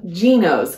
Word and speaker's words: Gnoce: really fun haul from gos I never know how to say this brand but that is what I've heard most consistently it is g n o